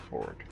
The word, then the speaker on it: Fjord: that his name's technically Fjord. Yep. He pronounces it Ford.